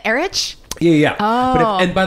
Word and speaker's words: Erich: phone and they say, hi, are you Erich? And I go, no, it's Eric.